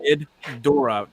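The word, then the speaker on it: Ghidorah: G yeah yeah I I always say GID as in get good and uh door as you know door wait no it's g Dora Dora the explor it's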